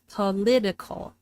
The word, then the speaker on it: political: and and unstressed reduced to a schwah reduced to thewah political political also if political political political